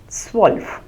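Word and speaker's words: zwölf: that's word that you hear that is the pronunciation so s 11 is elf and 12 is SW so remember the two dots the uml on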